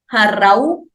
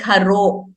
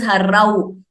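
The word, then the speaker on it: हरौ: Similarly, next also, harau. We should be very clear. We should not make it sound like haro. It is harau. O is different from au.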